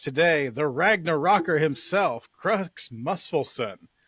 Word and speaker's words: Muspelson: Do a lot better if you heathens could pronounce my name. That's why I just turned it down to Krux. It's Muspelson. Okay, I am an actual